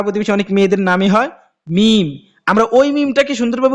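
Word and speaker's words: ميم: অনেকের মেয়ে পাড়া প্রতিবেশী অনেক মেয়েদের নামই হয় মিম আমরা ওই মিমটাকে সুন্দরভাবে উচ্চারণ করি কিন্তু কোরআনের মধ্যে যে মিম আছে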